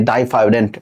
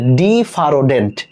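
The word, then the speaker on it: diphyodont: মানুষের দাত দুবার ওঠে এজন্য এটাকে বলা হয় ডাইফারডেন্ট ডাইফাডেন্ট দেখ এই জায়গায় লেখা রয়েছে ডিফারোডেন্ট এটা ডিফারোডেন্ট এটা উচ্চারণটা বই ওভাবে দেওয়া রয়েছে বাট এটার রাইট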